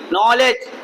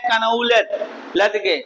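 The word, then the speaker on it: knowledge: Neha has good नॉलेज, KNOWLEDG, नॉलेज। आप लोग याद कर लीजिए, इससे बहुत लोग पढ़ते हैं कनौलत लदगे, लेकिन कनौलत के नहीं, नॉलेज यहाँ K साइलेंट है और यहाँ D साइलेंट है, नॉलेज।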